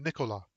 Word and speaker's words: Nicholas: "Where is Nicholas?" Perry demanded. She pronounced the name Nicola.